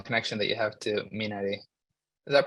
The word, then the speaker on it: Minari: mentioned the personal connection that you have to Minari. Is that pronounced correctly?